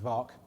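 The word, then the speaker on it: VAAC: did the work on uh the bedford uh vark harrier stands for vector thrust aircraft advanced flight control with a soft small and f to make it an acronym that was uh pronounced vark that's about 1996 before the color scheme was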